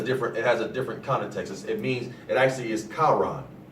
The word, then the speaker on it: Haran: It actually is Charan. It's spelled H-A-R-A-N, but it's pronounced Charan, C-H-A-R-A-N.